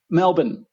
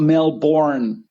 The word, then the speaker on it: Melbourne: Aussies okay next one Melbourne it's not Melbourne it's Melbourne yeah all right I'll break